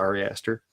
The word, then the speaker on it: Ari Aster: The director, Ari Aster, I believe is how you pronounce it. Ari Aster.